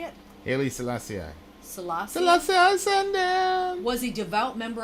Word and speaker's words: Haile Selassie: Haile Selassie. The Emperor of Ethiopia, who was regarded by the Rastafarians as God incarnate. Selassie, how did you say it? Haile Selassie.